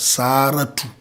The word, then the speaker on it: Sarah: Sometimes Muslims pronounce that word as Saratu. I don't know if it is a bastardization of the word, but Sarah, Saratu.